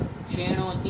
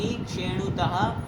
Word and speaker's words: क्षेणोति: क्षेणोति क्षेणुतः क्षेणवन्ति। ध्यान से क्षे का उच्चारण, ए का उच्चारण होना चाहिए, शिक्षी नहीं सुना दे। क्षेणोति, ध्यान से उच्चारण।